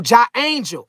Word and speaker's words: J Angel: Jango say my name is pronounced uh uh uh oh J oh J angel. Oh J Angel. Okay. Not angel.